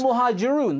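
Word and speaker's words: Al-Muhajiroun: It's Al-Muhajirun.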